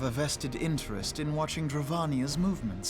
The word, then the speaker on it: Dravania: We too have a vested interest in watching Dravania's movements. Dravania, not Dravania, Dravania. I'm thinking like Castlevania, like Transylvania.